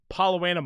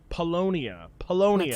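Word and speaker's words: Paulownia: Okay, so we're going to the door that leads to Palowana Mall. Polonia. Let's go. I'll never say it correctly. I've been saying Palowana too long.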